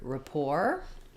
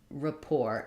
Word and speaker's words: rapport: but some differences so in the word rapport the t is silent Rapport and the letter A